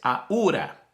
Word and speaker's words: Ahura: Bueno, es Ahura, así es la pronunciación en español, Ahura Mazda, así como la marca del carro japonés, Ahura Mazda.